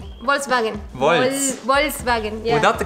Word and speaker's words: Volkswagen: Volkswagen. Okay? The correct pronunciation is Volkswagen. Volkswagen. Just say the V in the beginning a little bit sharper.